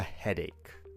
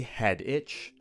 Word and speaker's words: headache: You could also say, "I have a headache." Be very careful to pronounce this word correctly. We don't say head itch. We don't say headache.